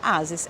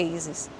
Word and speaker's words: Aces: Porque eu não vou falar Ases, é Aces, entende?